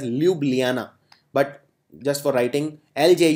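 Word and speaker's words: Ljubljana: to which country now this country's capital is laub Lana in fact it is pronounced as Luana but just for writing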